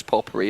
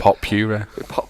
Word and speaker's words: potpourri: Rob can now pronounce potpourri as well. I thought it was pop puree.